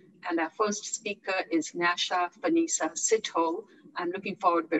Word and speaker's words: Nyasha: Over to you, Nasha. Awesome. Good afternoon, good morning, and good evening, everyone. And thank you so much, Bandana, for the great introduction. And you did pronounce my name very correctly.